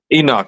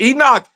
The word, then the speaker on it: Enoch: And I mean, help me pronounce his name, Enoch. Yeah. Enoch. Okay, make sure I want to say it right. Okay, because these are wild names. I think it's right. But Enoch, he was a warrior in there.